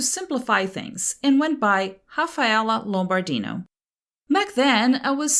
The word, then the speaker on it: Rafaela: I'm from Brazil, and we pronounce initial R's as a hard H, so my official name is Rafaela.